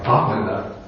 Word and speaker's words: brahmana: Okay, here we have the Sanskrit word brahmana. But in the Buddha's time, we can guess that the word was actually pronounced probably something like bhamana.